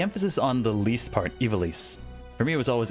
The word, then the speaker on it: Ivalice: You always pronounced Evalis with a long I at the beginning rather than... Yeah, the emphasis on the least part, Evalis. For me, it was always Evalis.